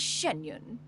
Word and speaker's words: Xianyun: occasions be sure to refer to one as genun genun there you go that's how you pronounce it genun genun I assume that's a